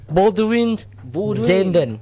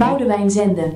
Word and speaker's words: Boudewijn Zenden: Boudewijn Zenden. Boudewijn. Aduh, Baldwin. Boudewijn Siapa yang benar? Zenden. Rizal. Karena kalau kata Koci Belanda tuh dibaca semua.